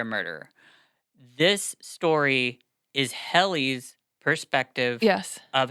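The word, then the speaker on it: Hellie: I say Helly because it's Hell, but I'm going to say Helly too then.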